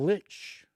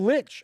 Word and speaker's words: lich: We invite you into the Crypt of the Devil Lich. Although, I have to admit, I had heard someone tell me that in German, it's actually pronounced Lich. And that's how it's really supposed to be pronounced.